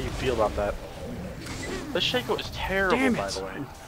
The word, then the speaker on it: Shaco: He is he's straight he's a Shaq. He's definitely a Shaq. He is a Shaq. He doesn't even deserve the correct pronunciation. He's a Shaco.